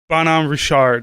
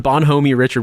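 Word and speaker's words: Bonhomme Richard: on bonhomie richard whatever the hell they call i'm sure they don't pronounce it correctly but it should be bon am richard but yeah like i'm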